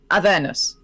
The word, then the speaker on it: Avernus: The stress should be the penultimate syllable. So it should be Avernus.